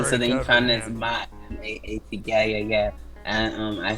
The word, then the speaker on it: Ma'at: That's what I know the Ma'at to be, and that's what they call it, the Ma'at, not Mat.